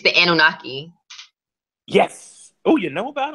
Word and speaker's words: Anunnaki: it about a specific kind of alien called via nuke I I butchered him because for years I just read